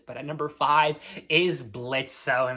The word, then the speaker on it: Blitzo: at number five is blitzo himself the O is silent now